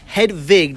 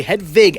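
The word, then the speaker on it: Hedwig: the vampire and hedva head Vig do not pronounce that W incorrectly head Vig and the Angry Inch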